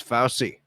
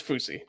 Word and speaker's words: Fousey: that's how you pronounce it that's how you pronounce it yes I thought it was fousy no it's fousey so don't hasn't he not been relevant in